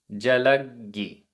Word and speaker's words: जलग्गी: जलग्गी, आधा गा पूरा गा। जलग्गी।